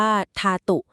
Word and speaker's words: ธาตุ: พุทธธาตุ ท่าน อธิบาย ว่า คำ นี้ ใน ภาษา บาลี อ่าน ว่า ทาตุ หมาย ถึง ส่วน ประกบ